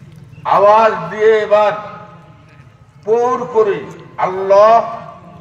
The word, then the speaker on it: আল্লাহ: পরে খুলবে কি খুলবে না তখন বুঝবেন সবাই মিলে আওয়াজ দিয়ে এবার পুর করে আল্লাহ শব্দটা হলো আল্লাহ আর আমরা হালকা করে পড়ি আল্লাহ আল্লাহ উচ্চারণের চাইতে আল্লাহ উচ্চারণটি সহি এজন্য আমরা নরমালি যে